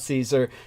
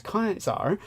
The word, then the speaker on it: Caesar: the Latin it's not Caesar which that's an anglicization his real name was kaisar where we get the word Kaiser from and uh he uh